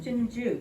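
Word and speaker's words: 針灸: this whole practice of medicine in chinese is pronounced tunju which means needle burn so the needles and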